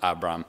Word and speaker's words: Abram: I'm not sure if you can hear the difference in the pronunciation there. Maybe I'll just pronounce it Abram, okay? Abram and Abraham.